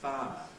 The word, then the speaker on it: fire: happens in the word fire where we have the diff I followed by another vowel in its full form fire has two syllables five up five but but this diff